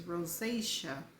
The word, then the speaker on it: rosacea: before so I didn't know how to spel pronounce it it's rosacea okay and the last word is spelled i